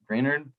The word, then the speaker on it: Greenard: for the future, especially when guys like Jonathan Greenard, is it Greenard or Greenard? How do you pronounce that?